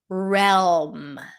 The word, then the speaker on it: realm: The next word is realm. Realm. Realm. We do hear the L here. Realm. It's an R sound. An E. LM.